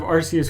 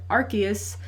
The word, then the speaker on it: Arceus: Also, if you're about to leave us a YouTube comment to tell us that it's pronounced Arceus and not Arceus, you knew who we were talking about, and the point is moot.